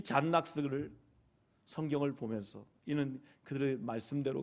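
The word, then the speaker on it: John Knox: 이 잔 낙스라고 하면 낙스라고 해서 뭐 이거 아니라 이름이 존 녹스예요. 존 녹스. 발음을 하면 잔 낙스였어요. 이 잔 낙스를 성경을 보면서 이는 그들의 말씀대로 개혁하려고 얼마나 애쓴지 몰라요.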